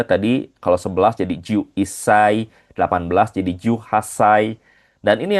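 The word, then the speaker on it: 一歳: Di sini untuk usia sebenarnya gampang Minasang di akhirnya tinggal ditambahin sa tapi ada beberapa pengecualian seperti contohnya di 1 tahun dia jadi isai.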